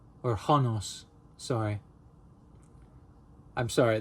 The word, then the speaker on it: Honos: Honos became personified in the Roman deity Honos. Or Honos, sorry. I'm sorry, the H's are... You have to really pronounce it.